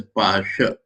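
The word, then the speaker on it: পাশ: In Bengali, pass is pronounced as pasha.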